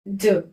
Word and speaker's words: je: पहला क्या होता है ज इसको प्रोनाउंस करते हैं ज इसका मीनिंग होता है